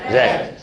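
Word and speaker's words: read: देखो रीड की तीन फॉर्म क्या होती है, रीड, रेड, रेड, लेकिन रेड की स्पेलिंग वही रहती है। फर्स्ट फॉर्म की स्पेलिंग भी वही है, सेकंड फॉर्म की भी वही है, और थर्ड की भी वही है। यानी कि तीनों वर्ब की फॉर्म्स की स्पेलिंग रीड की वही होती है, लेकिन बोलने में अंदर होता है। इसको बोलते हैं रेड।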